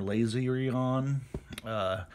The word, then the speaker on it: Laserion: is the kadai Kaden laser on or lazy on however you would like to pronounce it I pronounce it laser on because hey that's the way it looks to me and so laser on